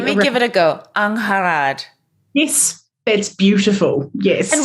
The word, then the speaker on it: Angharad: so many vowels often canadian america is more like anne harrod kind of maybe or the welsh the proper welsh pronunciation because i'm actually you know my family as well she is unharad she rolled the r but any iteration is